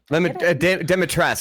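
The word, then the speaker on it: Dimitrescu: but those nails do some demitras that's how it's pronounced I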